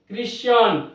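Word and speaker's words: Christian: So Chrome, CHROME, Chrome, CHRIST, ক্রিস্ট, ক্রিশ্চিয়ান, এক্ষেত্রেও সিএইচ তারপর আর হয়েছে, অর্থাৎ এখানে আমরা সিএইচকে কয়ের মতো উচ্চারণ করব।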